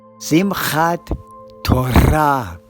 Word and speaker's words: Simchat Torah: And remember, in Sephardic Hebrew, the emphasis is on the final syllable. So it's Simchat Torah.